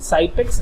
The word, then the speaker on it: Xypex: Un material puede ser, por ejemplo, de Fester, el Cypex, que se escribe con X, XYPEX, Cypex, y ese es muy bueno cuando tienes humedad.